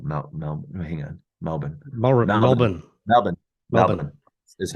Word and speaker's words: Melbourne: Uh Melbourne is how you say that pronounced. You don't pronounce the L. Mel Mel. Hang on. Melbourne. Melbourne.